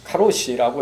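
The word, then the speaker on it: 過労死: 1년에 800명 이상이 오래된 장기 노동과 근로 현장에서의 스트레스로 자살해서 죽어서 과로사를 일본식 발음으로 카로시라고 해서 카로시가 영어 사전에 올라갈 정도로 문제가 되는 나라입니다.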